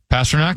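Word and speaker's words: Pastrňák: pronounce it past neck how is it past neck yeah past neck they call him pasta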